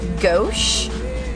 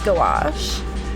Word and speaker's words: gouache: Okay, I always said it as like gauche, and then I was like, there's too many vowels in it for that. It probably is gouache.